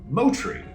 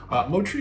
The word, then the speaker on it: Moutere: Today we're checking out Moutere. And I know what the word is spelled like. But it is a Maori word, as many New Zealand hops get their names from that language.